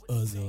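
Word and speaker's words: Özil: My friend always told me, shout out Paige, she always told me to pronounce it Ozil, because the two, whatever it's called.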